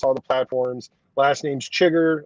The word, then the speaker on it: Chiger: Last name's Chiger. Like I said Chiger. It's pronounced Chiger.